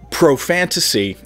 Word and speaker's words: ProFantasy: However, for those of you who English is not your first language, profantasy rhymes with the word profanity, which means like a foul or rude language.